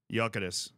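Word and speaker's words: Gyökeres: My name is Victor Jokeres. So it's not Jokeres, as some of you guys were saying. It's Jokeres. It's Victor Jokeres. Jokeres.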